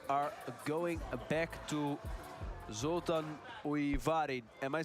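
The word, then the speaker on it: Újvári: And now we are going back to Zoltan Uivari. Am I saying it right? Ushvari.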